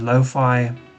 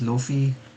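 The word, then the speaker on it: lo-fi: I always pronounce it as Luffy, which I know is completely wrong, but that's just one of the things I used to do.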